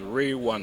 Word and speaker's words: Real Wan: My name is Real Wan. Real Wan is spelled as r e a l w a n.